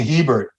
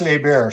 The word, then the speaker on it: Hebert: to make no Jason Hebert he was really really good hey bear they pronounce a bear Shannon day did but